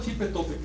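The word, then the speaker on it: Xipe Totec: Así que no es propio decir Xipetotecu, sino Xipetotec, con acento en la O.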